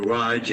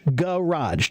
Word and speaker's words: garage: So do the first one as garage, 2 syllables. Garage. Garage. That's garage. very good. Yeah. Then the other one is 1 syllable. Just throw it out of your mouth quickly.